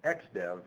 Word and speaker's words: XDF: course there's the xdev logo and again it's pronounced xdev for the you that uh want to begin